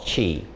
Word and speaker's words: qi: In China, they call it qi, either spelled C-H-I as it's pronounced, or Q-I.